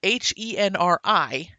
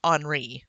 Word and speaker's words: Henri: with him and his C-Pan, whose name is Henri, and to me that's Henri. That's French spelling. So Yeah. the whole time I read it, I pronounced it Henri, but in the movie they just call him Henry, and that actually bothers me.